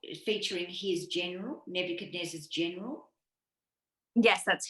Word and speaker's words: Nebuchadnezzar: So it's the time of this Babylonian king whose name I did work out how to pronounce is Nebuchadnezzar. Nebuchadnezzar.